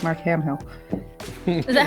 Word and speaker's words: Hamill: Because I saw Mark Hamill has voiced Joker before, and I want to sound like Mark Hamill.